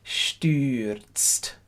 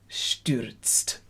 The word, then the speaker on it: stürzt: And I never quite say that vowel right. Stürzt. Stürzt. Keep the umlaut U's nice and bright.